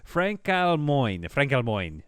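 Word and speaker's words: frankalmoign: I gotta look up how to pronounce that. Francalmoin.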